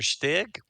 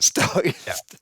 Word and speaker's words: StuG: the other Stig or the guy Stug. Please Stug, don't don't insult my tanks.